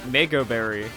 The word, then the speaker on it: Mago Berry: Now, I am running the Mago Berry, or the Mago Berry, depending on the pronunciation. It's a mango, so that got strong A sound, but Mago sounds better, it feels better.